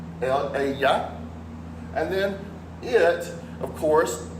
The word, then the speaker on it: ella: Notice ella has a double L and it's pronounced ya. The double L is a ya sound, ella.